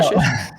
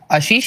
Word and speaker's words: Ashish: Well, Ashish? Ashish is how everyone pronounces it. Ashish is the Indian way of saying it, and technically correct, but nobody actually calls me that.